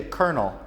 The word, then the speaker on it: colonel: Em outros idiomas, em inglês é colonel. Igual kernel of corn, grão de milho, se escreve totalmente diferente.